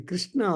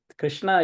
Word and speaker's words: Krishna: many people but then if you see there are two shakas so sha from the front and then sha from the back so this is and